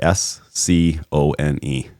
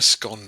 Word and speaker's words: scone: apples or oranges, but how do you say the word s c o n e? The the thing you have with tea with butter and jam. Uh I'm a scone man, not scone.